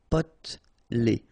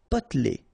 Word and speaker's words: potelé: Potelé. Okay, here you don't really pronounce this E. Potelé. Potelé. Psychologique.